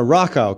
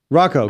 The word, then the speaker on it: Rachow: I'm sorry, I said it Rockow, correct? Rocco, got it. Okay, I'm sorry, I've been pronouncing your name incorrectly.